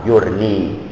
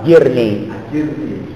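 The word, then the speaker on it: أجرني: Allahumma ajurni. Ada yang bacanya Allahumma ajirni. Ada itu. Allahumma ajurni atau Allahumma ajirni ya fi musibati wa akhlif li khairan minha.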